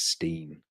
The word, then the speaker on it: Stein: ages and he said it's not Stein it's Steen and I said oh